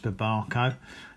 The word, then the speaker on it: Babaco: So, I decided that I would do a tasting video on my Barbco or Babco. Um, I'm reliably informed by George that is pronounced BCO.